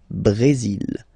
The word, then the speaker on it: Brésil: Okay, you will pronounce the final L here, and then remember, accent aigu goes like E. Brésil.